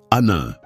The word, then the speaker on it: Anil: Un, je m'appelle Anil. Ça se prononce Anin.